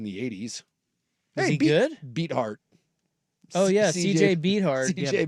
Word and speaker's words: Beathard: Beathard. Oh yeah, CJ Beathard. CJ Beathard or whatever it's Beathard. No, I think it's Beathard. Dude. I believe it's pronounced Beathard. I like that better.